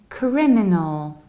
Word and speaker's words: criminal: We say criminal. So what happens? We have cri, then we have me, and then we need to reduce the ending. Exactly the same way we did it with legal. We reduced go. Here we reduce no.